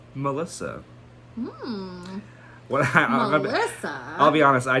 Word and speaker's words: M3LL155X: Only a year later, Twigs released her third EP, M3LL155X, pronounced easily as Melissa.